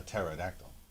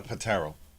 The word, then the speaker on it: pterodactyl: A a pterodactyl. Not a patero. No. Nope. The P is silent.